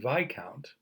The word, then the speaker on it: viscount: directly in half and by count remember you don't pronounce the S by count is another way of